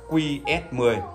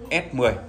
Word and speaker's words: S10: thứng hiệu đơ ông thì thường đọc là qs10 chúng ta đọc đúng chính tả là S10 không phải qs10 quý vị lưu ý